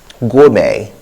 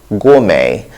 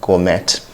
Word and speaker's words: gourmet: have glutton gluttony not gluten google not goggle gourmet gourmet the tea in this word is silent so i'm sure so people some people